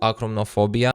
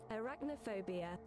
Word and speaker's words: arachnophobia: I bet half of the people stopped playing here due to acromophobia. Man, how the fuck you pronounce this word? Arachnophobia.